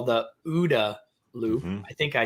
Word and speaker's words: OODA: what you call the udda loop i think i said that right yeah because you said in the book it rhymes with gouda so that lube so